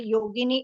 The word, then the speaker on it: Yogini: in the same way yogini is a version of saints beautiful and it rhymes with Linguini if you know what's